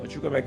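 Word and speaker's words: Chukwuemeka: No, Chukwemeka is Chukwemeka, right?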